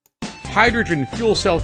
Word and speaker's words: hydrogen: Hydrogen fuel cell cars seem like the perfect solution. 네요. 수소 발음 다시 들어보세요. 하이드로겐이 아니에요. Hydrogen Hydrogen, 윗입술 올리세요.